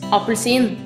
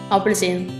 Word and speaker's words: appelsin: is an Orange in Norway we call this appelsin It is spelled a p p e l s i n try apelsin this is a pair in Norwegian a peir